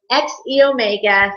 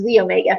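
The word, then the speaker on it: xEO Mega: We are completely updating our XE Omega formula, or sometimes it's pronounced Z Omega formula.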